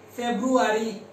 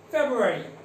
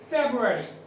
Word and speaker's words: February: Feburary who will use what is there that February but this is not the correct pronunciation okay so we have to say this word is February February February okay so please repeat after me three times